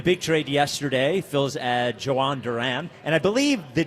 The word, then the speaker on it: Jhoan Duran: the big trade yesterday Phil's add Joan Durant and I believe the J I believe it's not Yo I believe the J is pronounced like a J between him and